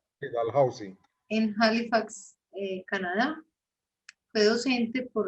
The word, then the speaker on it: Dalhousie: Gutiérrez es médico y oftalmólogo del CES, especialista en glaucoma de la Universidad de Dalhousie, así se pronuncia, Dalhousie.